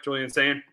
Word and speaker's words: Julian Sayin: Am I saying it right, Julian Sayin?